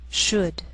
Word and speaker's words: should: Sometimes L can be silent, so you have to be careful. The first 5 words listed below are very common, so let's take the time to make sure that you're pronouncing them correctly. Listen and repeat after me. Talk, walk, could, should, would.